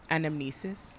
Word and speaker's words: anamnesis: Anamnesis. Anamnesis. Anamnesis. Anamnesis. Anamnesis. Anamnesis. Say that 3 times fast. It's 4 syllables.